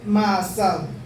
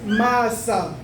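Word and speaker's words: מעשה: Se dice maasad. Masa se escribe con una mem, una ain, una shin, una y una ba. Así dice masa.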